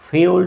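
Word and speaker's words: fuel: Don't ড ফিউল to fire by আরগোং further. এইযে এফ ইউল মানে হচ্ছে ফিউল। ফয়েল না। আমরা সারাজীবনই ফুয়েল পড়ে আসছি। কিন্তু উচ্চারণটা হচ্ছে ফিউল।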